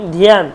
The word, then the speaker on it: ধ্যান: এইবার যখনই উচ্চারণ হয় ধ্যানত্যারম, ধ্যানত্যারম, ধ্যান, আমরা কিন্তু ধ্যান উচ্চারণ করি, ধ্যান, ধ্যান নয় কিন্তু ধ্যান, ধয়ের সাথে জফলা আছে, ধ্যান।